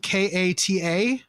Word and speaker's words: kata: i should actually look that up too uh it's spelled k-a-t-a and it's pronounced kata but this is spelled